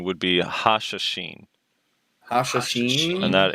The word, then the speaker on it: Hashashin: It's not Hashinshin, which I think is a League of Legends player. Someone told me that the pronunciation would be Hashashin.